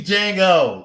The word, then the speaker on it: Django: So check out D Django. And I did watch the movie, and I still don't understand why the D is silent.